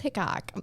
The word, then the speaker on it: Hickok: He literally has Well, it's Hickok. It's spelled Hick.